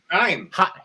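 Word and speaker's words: Chaim: Haim.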